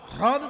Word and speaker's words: হ্রদ: কিন্তু হ্রদ উচ্চারণটা সবসময় হয় না, হয় রফলা দ, হ্রদ তো। কিন্তু কিছু কিছু লোক ছোটবেলা থেকে রফলা উচ্চারণ করে না বলে আজীবন করতে পারে না।